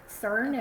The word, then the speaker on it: CERN: slash search okay yeah cern is how you say it cern yeah so some people